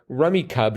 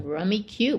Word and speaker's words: Rummikub: Definitely check this game out, like the card game Rummy, but with tiles. So I gather Rummikub should be pronounced Rummikub. Rummikub.